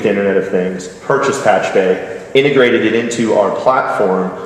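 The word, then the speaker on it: Pachube: Now, we came from a heritage of acquiring a company named Patchbay, or Patchube, if you happen to see it, it's spelled, it's P-A-C-H-U-B-E.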